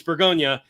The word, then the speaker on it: Bourgogne: That's not the actual name of the place. Right. It's Bourgogne, which apparently once upon a time, because we're Americans, we were like, fuck that.